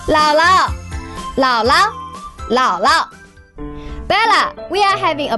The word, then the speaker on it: 姥姥: 老 third tone, but the second 老 will be pronounced as neutral tone. 姥姥 Bella, we are having a barbecue tonight.